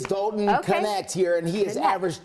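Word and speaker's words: Dalton Knecht: it is the cas oh they do pronounce the k it is doton connect here and he has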